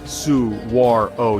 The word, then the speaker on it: saguaro: The saguaro cactus, pronounced su-war-o, yeah, it surprised me too, can live up to 200 years.